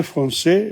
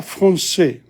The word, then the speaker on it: français: la femme professeur, la française, la française, l'anglaise, la cousine, la chienne, la chatte. But notice what happens in l'avocat. We don't pronounce the T. Okay? Le français, you don't pronounce the S.